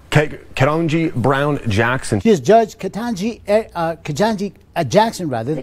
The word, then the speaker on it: Ketanji: other goddamn european names but you can't say katanji even if you say ke tan g they